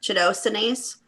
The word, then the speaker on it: chitosanase: It's chitosani. Can you spell it? Janelle? I don't know if that's how it's pronounced, but that's how I always say it. Chitosanase.